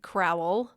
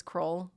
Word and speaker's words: Crowell: It looks like Crowell. Yeah. Which my husband's whole family says Crowell, so it's pronounced like K-R-O-L-L.